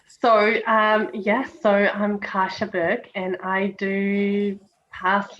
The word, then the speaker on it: Kasia: energy beautiful thank you am i saying your name correctly kasha yes absolutely you're one of the few rare jams who knows how to pronounce it so i am elena